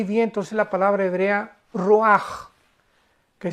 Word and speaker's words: ruach: es la palabra hebrea roaj, que se escribe r u a c h. Ruach, pero se pronuncia Ruaj.